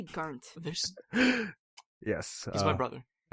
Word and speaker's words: Garnt: One syllable, Female. not two. Hello everyone. Yes, it's me, Gigguk. I mean Garnt. Gaunt.